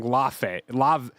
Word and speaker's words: Laufey: That's how Sony Santa Monica is pronouncing this. We have two people from Sony Santa Monica saying Laufey. God damn it. Lafayette. Laufey.